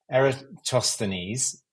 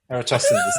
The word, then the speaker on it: Eratosthenes: a Word document too, because I can never pronounce the name of the guy that I've referenced in the book. Is Eratosthenes. Easy for you to say. It's so impossible. I've written it as Eratosthenes. Eratosthenes.